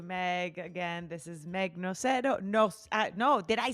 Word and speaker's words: Nocero: Again, this is Meg Nocero.